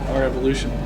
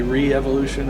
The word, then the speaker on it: rEvolution: There's like three pronunciations the way we type it out. It's a little R, capital E, evolution. So it can be re-evolution, it can be our evolution, it can be revolution.